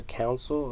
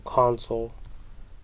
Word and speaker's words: console: dashboard on the center C console or counil no console console that's how you pronounce it console um so kind